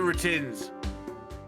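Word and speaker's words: Retinz: I'm Roger Retins. I think it's pronounced retins, as in like ratings.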